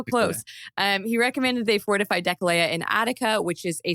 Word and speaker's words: Deceleia: Deceleia. Oh, I got so close. He recommended they fortify Deceleia in Attica, which is a sort of crucial move that devastates the Athenian countryside.